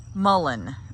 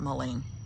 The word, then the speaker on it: mullein: blooming right now and so is the mulling mullen i guess is how it's pronounced i've always called it moline i don't know anyway